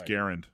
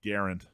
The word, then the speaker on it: Garand: oh yeah actually it's Garen Garen actually it's pronounced Garand um so I've been told all right uh